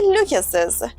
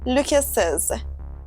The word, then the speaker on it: Lucas's: We would say Lucas, but when we add the apostrophe s after a name that ends in s, We say Lucas's with a Z sound. Lucas's.